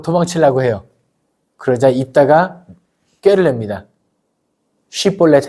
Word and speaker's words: 쉽볼렛: 해요 그러자 입다가 꾀를냅니다 쉽볼렛 해 봐 쉽볼렛 그런데 에브라함 사람들이 사투리가 쉬면서 쉽볼렛 발음을 못 하고 쉽볼렛 이럽니다 마치 경상도 사람들에게 쌀 해 보세요 살 쌀 살 이런 느낌이에요 쉽볼렛 해봐 했는데 렛을